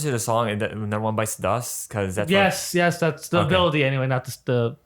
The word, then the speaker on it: Bites the Dust: Zadusto. You gotta say it right. Bites the dust.